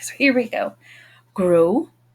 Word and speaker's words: gros: Gros. Don't hear the final consonant.